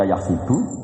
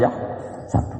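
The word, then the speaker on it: يحسب: Karena dalam qiraat sab'ah ada yang baca yahsibu, qiraat kita baca yahsabu.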